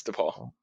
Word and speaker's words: DePaul: Is it DePaul? Am I saying it right? Yes, DePaul.